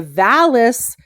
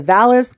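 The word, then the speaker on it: Valais: that Zermatt lies in Zermatt is in the Valles Canton now it's spelled v-a-l-a-i-s is how they spell it the valis Canton and canton's in Switzerland are districts or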